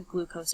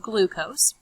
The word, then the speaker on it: glucose: And it gets broken down into the different macromolecules, including sugar or carbs, also called glucose. A little rhyme as if it rhymes with os, and it's gross, it's sugar.